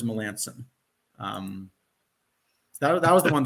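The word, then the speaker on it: Melancon: he was in Boston we were told it was Mark Milan but I'm told that now the right pronunciation he prefers Melanson um that was the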